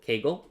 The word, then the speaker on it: Kaggle: a very good website called kegel or kaggle depending on how you pronounce it and that particular